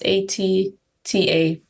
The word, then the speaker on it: ATTA: So it's ATTA. And it sounds like the word that is stands for milk in one of the local languages back home. It does sound like baby speak for the word milk.